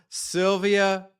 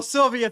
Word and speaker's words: Szilvia: S and Z together is one letter in Hungarian and it's S. Oh, well, Sylvia, thanks so much for coming on.